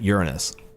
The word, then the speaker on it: Uranus: I will forever call Uranus Uranus and not Uranus. Not because it's Uranus. Not because of that joke, but because that's how I was taught to pronounce it.